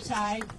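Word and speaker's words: Tighe: Can you say your first and last name and spell it? My name is Ty.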